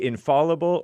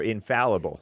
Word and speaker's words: infallible: You can say infallible or infallible. F-A-L-L, right? Right. Infallible. Or infallible. I don't know which one is more correct.